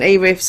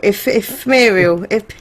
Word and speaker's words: Ethereal: E-Riff's amazing. To be honest, I'm a fan of E-Riff, but I can't say his name, so I always call him E-Riff. It's Imperial. Ethereal. Ethereal.